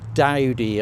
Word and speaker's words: Doughty: This one's Perkins Island, also known as Doughty Island, or Dowdy, I think it's pronounced, Dowdy Island.